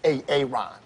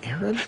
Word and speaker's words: Aaron: it the first time i said ay-ay-ron because it's pronounced aaron that substitute teacher sketch